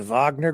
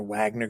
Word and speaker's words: Wagner: Reports that the Vagner group or Wagner group, depending on how you want to pronounce it, they're uh this is a Russian